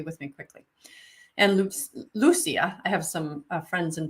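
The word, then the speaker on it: Lúcia: me quickly and LU Lucia I have some friends in Portugal who told me that's how you say her name in Portuguese Lucia uh was told this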